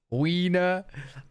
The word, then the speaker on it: Wiener: We say, in the UK, we would say wiener for penis. In German, we say Wiener. The German W is pronounced like an English V.